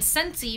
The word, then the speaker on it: Scentsy: And Scentsy, because a lot of people aren't sure how to spell it, it's SCENTSY. So like sense, like smelling, with a Y at the end.